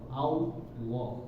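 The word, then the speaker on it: الله: Nah, jadi kalau misalnya kita bahasa Indonesia kan ya, ALLOH ya, Allah. Jadi lo ya, lo. Sebenarnya bukan lo juga, tetapi tebal Allah. Tapi latihan lagi. Nah, jadi bukan huwallah, tapi huwallah ya.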